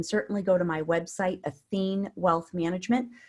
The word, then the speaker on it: Athene: go to my website athene wealth management so it's like Athena it's just the masculine version with an e at the end so a t h